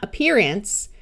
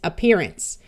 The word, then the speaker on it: appearance: so this is appear the vowel in the suffix will usually schah and sound more like a short U or a short I and this e will make the C have a soft sound of s so it's not appearance it's appearance you can learn more